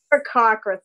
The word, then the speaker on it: Aarakocra: How do you actually pronounce it? Aarakocra. Aarakocra, thank you.